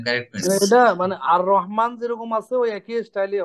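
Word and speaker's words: الرحمن: হ্যাঁ, এটা সুকুনও নিবে না, যখন সানলেটার হয় তখন লামের সুকুনও নেয় না। মানে আপনার লেখা থাকতে পারে কিন্তু উচ্চারণে হবে না, জি স্যার, রহমান এসে র ধরবে, হ্যাঁ এটা আর রহমান, জি স্যার।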